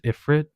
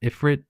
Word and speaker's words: Ifrit: I guess Ifphrit, right? Or Ephrit. I don't know how people are trying to pronounce it nowadays, but it was pronounced Ifrit back in the day.